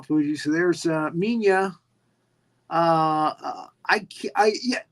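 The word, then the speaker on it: Minya: m Mia son right so even if it's spelled that way it's pronounced minia and and so the the spelling here is m m i n ya minia um there's gorosaurus showing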